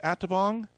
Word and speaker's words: Atabong: Listen, folks, we have on the phone with us, is it pronounced Atabong? Yes. Okay, we have Atabong.